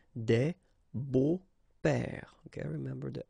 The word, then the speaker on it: beaux: But then it's exactly the same thing because you don't pronounce it. Des beaux pères, okay?